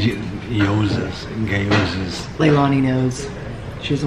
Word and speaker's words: gyozas: And we got an order of gyozas. It's got a G in there. What is called? The G is silent. Gyozas.